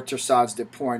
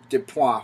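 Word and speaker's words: torsades de pointes: into a torsot or torsades de pointe or de pois however you want to pronounce it all right so we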